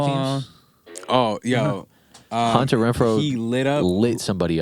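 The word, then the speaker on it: Hunter Renfrow: I'm gonna put the highlights in the clip, but literally, Henry Renfro literally slipped. You even say his name correctly. Hunter Renfro.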